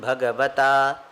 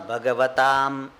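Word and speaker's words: भगवता: If you have heard this shloka, Parthaya Pratibodhitam Bhagavata, but some people pronounce Bhagavatam. It's not Bhagavatam.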